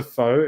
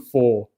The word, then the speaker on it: Faux: I do that to Foe in our clan. I used to call him Four all the time. Yeah, he spells his name Faux.